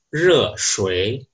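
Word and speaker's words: 热水: Kalau air panas di bahasa Mandarin biasanya diucapkan dengan re shui, re shui, re itu panas, shui air, re shui.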